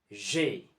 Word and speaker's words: J'ai: J'ai.